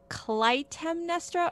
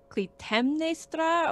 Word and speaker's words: Clytemnestra: Is it his wife Clytemnestra or Clytemnestra, or how would you say that? I always heard Clytemnestra in English, Clytemnestra. Clytemnestra, I think that's the spelling. Clytemnestra.